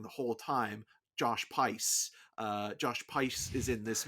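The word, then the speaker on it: Josh Pais: The other thing that this movie gets an extra bump for, and we've been saying his name wrong the whole time. Josh Pice.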